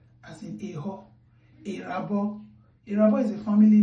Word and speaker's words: Eho: The first letter E that is not having a diacritic, you pronounce it as A, as in Eho.